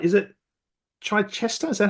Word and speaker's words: Chichester: Mike Maynard all the way from, let me get this right, is it Chichester? Is that how I pronounce it? Chichester in the UK.